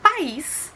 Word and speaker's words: país: Por exemplo, a gente sabe que a palavra país, ela é uma oxítona, porque a sílaba mais forte é a última, é o is.